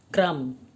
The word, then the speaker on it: कर्म: शब्द के ऊपर लगेगा क्रम तो इसके उच्चारण में कैसा फर्क आएगा क्रम क्रम कर्म कर्म क्रम यह हम क के बाद बोलने वा वा र है जो म के साथ बोला जाएगा चलिए अब हम र